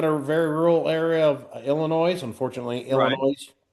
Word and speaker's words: Illinois: We called it Illinois until they finally said, "You got to drop the S. You're in junior high, you know, and I was like, we have all these other silent letters. Why do we have to add S to it?"